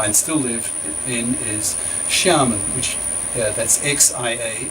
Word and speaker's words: Xiamen: still live in is Xiamen, which that's X-I-A. X-I in Chinese is a sh sound, so Xiamen, M-E-N.